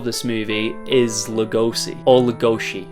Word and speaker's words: Lugosi: movie is Lugosi or legoshi that's apparently the correct way of pronouncing his Hungarian last name but everyone calls him Baylor Lugosi so I'm just not